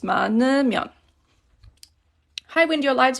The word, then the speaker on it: 많으면: And again, pronouncing it, you can say it 많으면, like this. This hiet kind of always goes away in speaking. You don't really pronounce this one too much, so it's just 많으면.